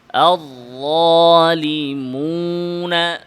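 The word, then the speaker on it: الظالمون: ওয়ায়ের উচ্চারণের সাথে গুন্নায়ের মিশ্রণ ঘটানো, মানে ওয়াওয়ের আওয়াজ নাকে নেওয়া, যেমন আয-যালিমুনা, মুনা, মিম নাকে যাবে কিন্তু ওয়াও যেন নাকে না যায়।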